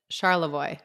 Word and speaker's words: Charlevoix: How often are you guys in Charlevoix?